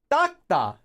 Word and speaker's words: 닦다: but 닦다, to wipe, is actually pronounced as 닦다. Believe it or not, it gets pronounced like every single time by everyone as a double tigat letter, even though it's not spelled that way.